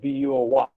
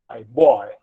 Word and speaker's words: boy: Oi as in boy. And this is replaced by Y, boy. This is the common Indian pronunciation of B-O-Y, boy, whereas it is boy.